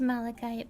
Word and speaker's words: malachite: This is Malachite. Malikite. It's pronounced Malikite, but yeah.